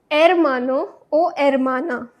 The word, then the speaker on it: hermano: for brothermano for sister not hermano because I told you h is silent in Spanish. So that's why Omana O then L A for grandfather or grandmother.